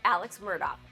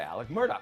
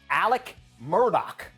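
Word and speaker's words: Alex Murdaugh: Alex Murdoch, you say Alec Murdoch.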